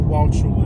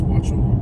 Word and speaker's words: Wauchula: Wauchula. By the way, the U is silent in Wauchula. It's not Wauchula, it's Wauchula.